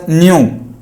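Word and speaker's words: ν: This is pronounced as nu.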